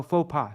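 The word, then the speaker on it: faux pas: literally false step okay so pronounce fa oh faux PA sorry um despite his faux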